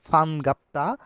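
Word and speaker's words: 반갑다: দেখতে পাচ্ছি ফান গাপ্তা যদি বিয়োগ যদি শব্দের শুরুতে বসে থাকে তাহলে বিয়োপটা আমাদের প এর মত উচ্চারণ হবে আমরা বলব যে ফান গাপ্তা অর্থাৎ খুশি হওয়া খুশি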